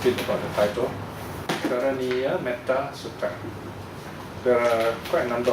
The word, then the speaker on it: Metta Sutta: So here the shortness of the vowel is due to the compound. So actually it's supposed to be Metta Sutta combined, so the long vowel became short. So technically it's still correct to pronounce it Metta Sutta if you like, but somehow we get so used to the idea of spelling it with short A, and then it has